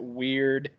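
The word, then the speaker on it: wyrd: there should probably be pronounced like a surfer dude saying dude so it'd be more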